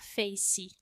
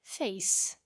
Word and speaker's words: face: Por exemplo, a palavra face, nós tendemos a falar face, pronunciando esse E, porque no português nós não temos vogais mudas, mas a pronúncia correta é face, ou seja, o som final é do C, face.